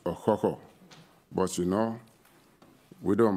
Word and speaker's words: Okhokhor: receive the bronze cockerel, which actually is rightly pronounced Okhokhor.